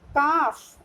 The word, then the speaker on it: calf: Calf, L. See here in the calf, C-A-F only we are pronouncing, but the correct spelling is C-A-L-F. L is silent.